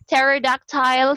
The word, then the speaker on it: pterodactyl: Pterodactyl, silent P.